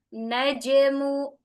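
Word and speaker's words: النجم: Anna an naj qalqalahnya najmu najmu tidak diakhiri dengan hamzah bukan dibaca dengan najmu, tapi najmu ya.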